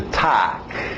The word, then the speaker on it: talk: Continuando, mais um verbo que tem o L, mas o L é mudo. Okay? Então, escrita aí, vai nessa escrita. To talk.